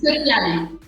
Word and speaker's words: Piali: It is called Piali. Did I say it right? Yes. Amazing. Yes. It's Piali.